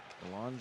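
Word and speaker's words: Bélanger: back to get it Balan spelled like Banger b e l a n g r but has the French pronunciation here's Logan Wells for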